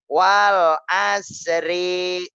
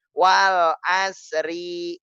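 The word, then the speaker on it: والعصر: kita awali dengan bacaannya sampai ada yang bacanya begini Wal Asri Hai energi masih inget nggak Nih orang-orang kayak gini nih kalau seandainya yang kemudian sekolahnya Masih baca walasri berarti kuburan kita sama ini Wal ashri Innal insaana lafii khusrin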